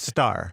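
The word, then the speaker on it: Starr: say chart I follow him on Twitter it's pronounced star yeah star do I know it's two do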